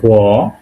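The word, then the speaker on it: г: পড়ব এটা পড়বো আমরা বাংলায় পড়েছি মনে আছে গ এটা হল গে এটাকে রাশিয়ান বলা হয় গে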